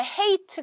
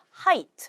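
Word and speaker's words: height: 타트 하기가 어려운 거죠 여기서도 높이라고 하는 거나 헤이츠 가 아니고 하이트 라고 발음 하셔야 되겠죠 그래서 걔네들은 깊은 바다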